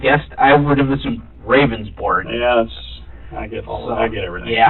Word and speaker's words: Ravnsborg: Ravnsborg. Okay. But it's pronounced rounds, like a round circle. Okay. Berg, like an iceberg.